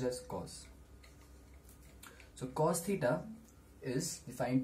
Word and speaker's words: cos: written as cos in short and it's pronounced pronounced as cos so cos theta is defined to be the